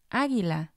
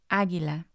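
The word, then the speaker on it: águila: have the g-u-e combination as in guerra guerra or the g-u-i combination as in aguila aguila when you have these combinations the u doesn't make a sound other than these exceptions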